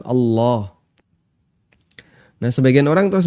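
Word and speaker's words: الله: Allohuakbar memang bacaan atau huruf lam dalam kalimat Allah dalam kata Allah itu dibaca tafkhim tebal nah kadang sebagian orang di masyarakat kita kan ada beberapa kesalahan ya ada yang baca Allah Allah dan itu berarti masih tarqiq masih tipis harusnya agak tebal Allah dan sebagian orang terus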